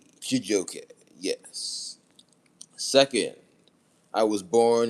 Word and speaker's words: Chijioke: First, the middle name of my government name is Chijoke. That's spelled Chijioke. Chijoke.